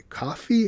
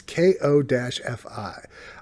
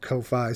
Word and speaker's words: Ko-fi: And Coffee? How do you pronounce that? It's Ko-Fi. I've been saying Ko-Fi.